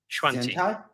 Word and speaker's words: Xuantie: Can you pronounce this one? So T-Head Xuantie? Xuantie.